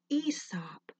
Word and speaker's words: Aesop: is spelled a esp-2 a silent so we pronounce it ESOP one story that I like to tell about